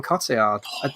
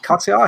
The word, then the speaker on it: Cotillard: So for Fabienne, I've cast Marion Cotillard. Cotillard, I think that's how you pronounce her surname.